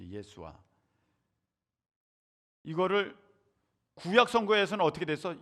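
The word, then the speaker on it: ישוע: 그 당시 아람어로는 예수와 이렇게 발음하면 되거든요. 예수와.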